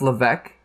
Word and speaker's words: Lavesque: if first of all, isn't it pronounced Lavesque? But anyway, yeah. Lavesque. Well, they keep saying Lavesque. Lavesque. Yeah, because they're American, right? Right, but it's Lavesque.